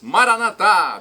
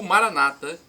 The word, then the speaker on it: Maranatá: E agora eu clamo do aramaico, dialeto de Jesus, para o português: Maranatá, vinde Senhor Jesus. Ou Maranata, pronúncia evangélica ou protestante.